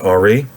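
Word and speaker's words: Henri: jurisdictional reality was father ari rolu delevante so ari is henry but just spell with an i h e n r i and uh rolu is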